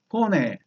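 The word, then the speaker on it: φωνή: 포네. 포네. 이렇게 불러요. 포네. 이걸 한 글자씩 도금을 해서 이렇게 됐지. 포네. 포네. 이렇게 해요. 포네. 흐자가 거의 묵음처럼 되는 거예요.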